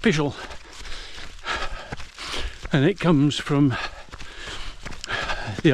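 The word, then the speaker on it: Pishill: childish school boy humor things but it's not pronounced pisil it's pronounced pel and it comes from the old Anglo-Saxon words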